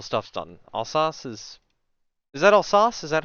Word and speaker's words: Alsace: how soon until stuff's done alsas is that all sauce is that how you pronounce her or that name that is us okay Alsace this one I always remember screwing up that's